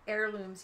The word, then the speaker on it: heirloom: It says heirlooms, yes. Holy. It's you don't pronounce the H. I know. It's not a heirloom. It's an heirloom.